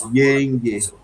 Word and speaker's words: Yenge: Yenge, vogal longo na primeira sílaba, era o nome do seu filho.